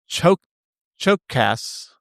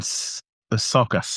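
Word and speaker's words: Csokas: Stars Denzel Washington, Martin Chokas. See, I knew it was a matter of time. It is Martin Sokas, I think, is how you say Sokas?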